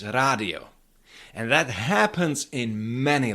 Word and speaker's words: rádio: d after d but this d is not pronounced as j it's radio and that happens in many loan words like